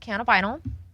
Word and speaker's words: cannabinol: give misinformation yeah so CBN is pronounced canab vinyl and um if you